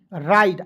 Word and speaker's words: ride: ड्राइव RIDE राइड, आइड के रूप में उच्चारण करना है, ठीक है। आर का RIDE का उच्चारण आइड के रूप में करेंगे, ठीक है, हो जाएगा राइड, ठीक है दोस्तों।